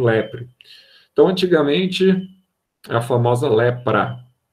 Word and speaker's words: leprae: Pronuncia só a última letra mesmo no latim. Então, você tem aqui Mycobacterium leprae.